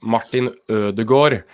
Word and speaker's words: Martin Ødegaard: who is who's wondering it's his name is pronounced martin de gourd so it's not that's that's going to be